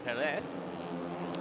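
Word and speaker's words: Pérez: No, you said it right the first time. Did I? Yep. He did the th. The th instead of the z. It's all about the th here.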